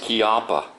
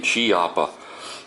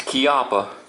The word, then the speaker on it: Chiappa: is made in Italy and yes it is pronounced kppa um I hear a lot of people saying chiaa but no it's kppa and this is a really nice holster I